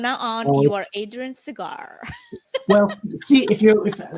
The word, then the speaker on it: Segar: Think Pete Seeger, Bob Seeger, and so on. They're spelled differently, but we're all pronounced the same.